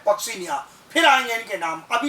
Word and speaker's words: Puccinia: Another is पक्सीनिया, pronounce होता है क्या? पक्सीनिया, PUCCINIA।